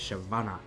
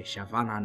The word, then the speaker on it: Shyvana: That's why her name is Shyavana because it rhymes with mana. So, you can say Shyavana, no mana, mama.